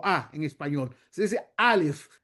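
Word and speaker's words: אלף: Alif no se dice alif como a en español, se dice alif. El sonido viene de la garganta.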